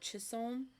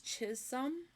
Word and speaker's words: Chisholm: Abeleen Kansas so apparently the way this is pronounced is not chisom it's chishom Chisholm Trail so just so we know I'll probably